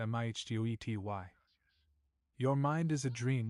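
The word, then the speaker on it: mitote: Your whole mind is a fog which the Toltecs called a mitot, pronounced mihtoi.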